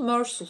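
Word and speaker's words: Meursault: Karakterin ismi Fransızca telaffuzu Mersul şeklinde.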